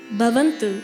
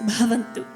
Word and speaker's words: bhavantu: wordi bant B bant so in Sanskrit BHA is different from ba so if you say Bantu that's not actually the right words bhavantu two different characters ba and BHA so now let's try